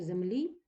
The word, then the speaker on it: землі: хочу записати форму множини чому я поставила наголос ви зрозуміли тому що землі що наголос буде падати на закінчення то це буде відмінкова